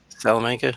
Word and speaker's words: Salamanca: i can never pronounce it's salam salamanca like south like salamander hey you got it salamanca okay so i'll make